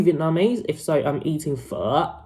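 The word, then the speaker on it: phở: if so i'm eating fur right now and i hate it when people don't pronounce it right so guys it's not faux and i'm not vietnamese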